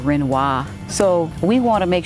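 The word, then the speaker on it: Renoir: the streets are mispronounced you may hear somebody say Monet instead of Monet or uh renor instead of renois so we want to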